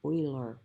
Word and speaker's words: Euler: the in honor of this guy named leonard oiler it's pronounced euler even though it looks like it